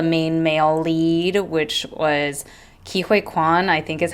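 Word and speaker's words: Ke Huy Quan: So the main male lead, which was Kihui Quan, I think is how you pronounce his name, at least in English speaking pronunciation.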